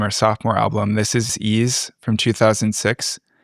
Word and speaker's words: Ys: This is Ease from 2006. It's spelled like YS, but it's actually named after or the name